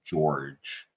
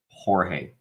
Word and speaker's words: Jorge: think that's his name I don't know why everyone keeps calling him George J R G at least in my mind is pronounced Jorge and I think he deserves